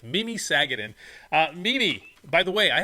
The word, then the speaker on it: Mimi Sagadin: We are sitting here today with Mimi Sagadin. I said the name wrong, which I told you I totally mess up names all the time, but it's Mimi Sagadin.